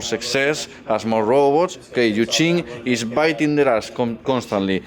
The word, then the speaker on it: Yu Jing: Okay, Jing or Yuqing, as we should pronounce, because this is like translated Chinese thing, and the pronunciation varies depending on the translation. Chinese is very complicated, really.